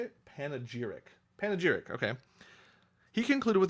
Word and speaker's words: panegyric: Panegyric. A public speech or a published text in praise of something or someone. How do you say it? Panegyric.